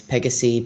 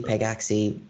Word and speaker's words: Pegaxy: for the game uh how do you say it uh pegaxi or yeah both ways pegasi pegaxi whatever's most comfortable so where did you